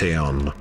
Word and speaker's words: Ion: Ion, pronounced Aeon, was a son of the sun god Apollo.